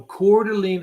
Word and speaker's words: Coeur d'Alene: Coeur d'Alene Idaho I have not okay so Coeur d'Alene Idaho and right near core Delina I spell that c-o-u-r-d-e apostrophe l-e-n-e all right Coeur d'Alene